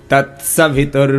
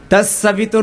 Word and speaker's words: तत्सवितुर्: ऐसा ओम भूर भुव स्वः ऐसे तत्सवितुर भरेम तत्सवितुर नहीं तत सवितुर ऐसे बोलिए तत्सवितुर्यम जोर से बोलिए